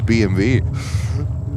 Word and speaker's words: BMW: The same is BMW. It's BMV.